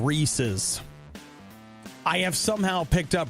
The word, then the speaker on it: Reese's: So what about Reese's? It's supposed to be Reese's Pieces. Reese's Pieces. Because Reese's does not rhyme with feces.